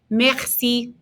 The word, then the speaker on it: merci: it's a good opportunity to pronounce that r in the back of our throats again remember the r in the back of your throat is a so repete merci merci good and give